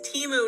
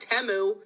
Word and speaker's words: Temu: they freaking gaslighting you the name of the company is teu not temu I'm going to be